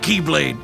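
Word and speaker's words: χ-blade: it means the x-blade it's just pronounced like keyblade even though it's just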